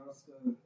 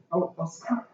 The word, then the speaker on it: Osaka: Y'all know Naomi Okaska, the tennis player. Yeah. What's her name? Naomi? Osaka. Osaka. Okay, yeah.